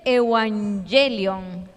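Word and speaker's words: εὐαγγέλιον: Bueno, eso tiene una transliteración, es como se dice evangelion. Si quisiéramos leerlo en griego, ¿verdad?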